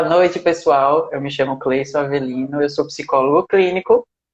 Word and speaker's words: Cleyson: Não sei se eu pronunciei certo, é assim mesmo, Cleison? É isso mesmo. Pronto. Se apresenta aí e já já a gente começa o nosso bate-papo. Então, boa noite, pessoal. Eu me chamo Cleison Avelino, eu sou psicólogo clínico e eu faço